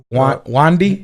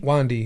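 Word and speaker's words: Wande: Before we started the show, I saw a picture from how do you pronounce her name? Wandy. Wandy, yeah.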